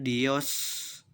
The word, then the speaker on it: Dioscoreae: Berikutnya adalah rangkaian huruf E, A, E, maka dia dibaca menjadi E. Jadi E sama A-nya hilang, dibacanya E yang huruf terakhir. Contohnya adalah tulisannya Dioscoreae, maka diucapannya menjadi Dioscore.